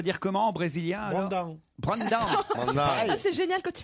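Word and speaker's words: Brandão: un courant qui était contre les arrête, c'est prononciations. n'importe Alors, apprenez-moi au moins pour Brandao, je dois dire comment en brésilien alors Brandao. Ah, c'est génial quand tu fais l'accent brésilien. Brandao. Mais non, pas Bao, hein.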